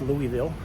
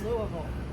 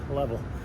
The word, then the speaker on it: Louisville: Now, it's uh not pronounced Louisville. It's certainly not Lewisville. It's It's Louisville. Louisville. Louisville, Kentucky. Or as the locals here say, level, Kentucky.